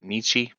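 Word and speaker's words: Nietzsche: Frederick Nichi is how you say it.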